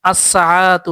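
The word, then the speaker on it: الساعةُ: সাতুন মানে হচ্ছে ঘড়ি আসসাতু তাহলে লামটা উচ্চারণ থাকতেছে না ঠিক একই রকম আযাহারাতু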